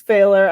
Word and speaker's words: Pfahler: l and I will say my last name's failer I should you at the beginning but hit